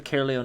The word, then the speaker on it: Caerleon: They're called the Caerleon Empire, and obviously it's pronounced that way.